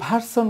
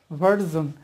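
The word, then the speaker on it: version: বলি যেটা হবে ডিসিশন তারপরে ভার্সন বলি যেটা অ্যান্ড্রয়েড ভার্সন বা কিছু একটা তো এটা ভার্সন না এটা ভার্জন তাহলে আমরা সঠিক উচ্চারণটা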